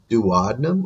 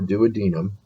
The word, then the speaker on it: duodenum: uh listed there uh you can either pronounce it duodenum or duodenum either way that's the first part